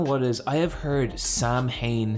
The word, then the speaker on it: Samhain: just try just google it how do you pronounce samhain it's samhain yeah uh if you could give someone you